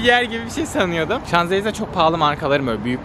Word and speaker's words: Champs-Élysées: Burada Champs-Élysées diye yazıyor. Şuraya yazmışımdır zaten. Şanzelize diye de okunuyor.